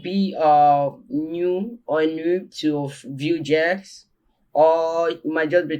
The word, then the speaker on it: Vue: Vue.js, pronounced Vue, like Vue, is a popular JavaScript framework for building modern and interactive web interface.